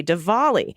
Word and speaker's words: Diwali: yes it is look at this correction Anonymous Diwali the D is pronounced like a V de volley I was at the zoo with my 19